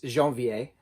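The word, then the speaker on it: Janvier: so the va v-i-e-r i think it's a va sound i think i could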